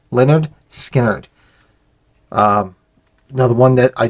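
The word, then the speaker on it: Lynyrd Skynyrd: right behind it the debut of Leonard skinnard pronounced Leonard skinnard um another one that I just absolutely love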